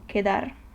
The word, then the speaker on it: quedar: in Spanish, Q, and it is pronounced like the pronunciation of C and U together in English. So quota, okay, Q. And a Spanish word to demonstrate it is, for example, quedar.